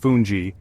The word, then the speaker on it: fungi: foundation for other dishes fungi pronounced funji is a tender palenta